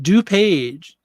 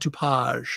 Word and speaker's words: DuPage: everybody wishing to pause dupage second is right do page do page so it's not too page let's do page okay